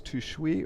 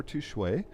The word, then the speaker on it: Tushui: And again, folks, it is pronounced both ways, Tushui or Tushui.